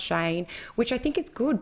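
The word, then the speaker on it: Cheyne: And they and they said um they spelled out his name and said pronounced Shane, which I think is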